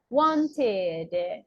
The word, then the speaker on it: wanted: need to add e what is the pronunciation it's like this wanted okay wanted or the